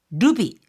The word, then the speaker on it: ルビ: 자체 소노모노 그 자체가 루비 요때는요 보소일 때는 루비 하는 식으로 길게 발음하지만이 후리가나를 루비라고 할 때는 짧게 루비라고 합니다.